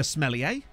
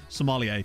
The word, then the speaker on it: sommelier: I don't think it's supposed to be pronounced smellier, but I feel like it's funnier to say it like that. It's wet. I'm sure you could piss off a real high-class sommelier by calling it a smellier, but I don't know,